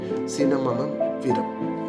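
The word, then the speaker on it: Cinnamomum verum: Okay, Cinnamonum virum. Okay, that is how it is pronounced.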